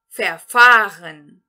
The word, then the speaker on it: verfahren: E, por último, o verbo verfahren. Verfahren. Verfahren. Aqui nós vamos entonar a segunda sílaba deste verbo, portanto, ele é um verbo não separável, que significa perder-se, enganar-se no caminho.